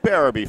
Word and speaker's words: Barraby: Barraby family, and so he's corrected a mistake I've been making all year in pronouncing your name. So it's Barraby, folks, and I apologize for every time I said it was something else.